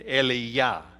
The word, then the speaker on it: Elijah: They all knew the difference between Eli and Eliyah, which is the Hebrew pronunciation of Elijah.